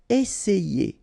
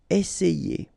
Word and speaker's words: essayer: Remember, double S, really strong S, and then it opens the E. Essayer. Essayer.